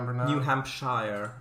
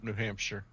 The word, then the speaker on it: New Hampshire: in the U.S no New Hampshire oh it is sheer yeah yes it is why is that word pronounced British English actually it's it's more not sheer it's more sure New Hampshire yeah why